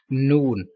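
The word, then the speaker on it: نون: Some people pronounce noon, noon, noon, and noon like both are wrong. You will pronounce this letter noon. Don't pronounce noon. Don't take sound into nose. And read noon with rounding the lips.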